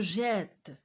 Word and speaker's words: jette: D'autant plus la consonne fait le travail d'un accent grave. إذا لاحظتوا كاين عندنا واحد المد على حرف E. On prononce je jette.